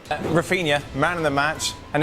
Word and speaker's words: Raphinha: But now, Raphinha for Barcelona and scores! Barca ahead inside. Okay. It's Raphinha.